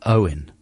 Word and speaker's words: Eoghan: It's like when someone's called Owen. Yeah. And then their name is spelt in some amazingly elaborate Welsh manner. Eoghan or something.